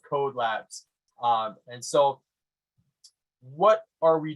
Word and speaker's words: Codelabs: Is it Kode? Is it Code? It's pronounced Codelabs.